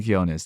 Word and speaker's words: Quiñones: the legendary artist legendary filmmaker amazing Creator Jasmine kones did I pronounce that last name right you actually did